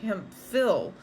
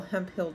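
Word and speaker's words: Hemphill: Mrs hemp Hill but it looks like hemp Phil h m p h i l l hemp Hill Texas that's how we re we pronounced it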